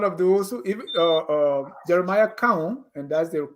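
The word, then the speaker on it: Koung: Washington, I mean, I was one of those who even Jeremiah Cowan, and that's the correct pronunciation of his name because he's darkened from my town.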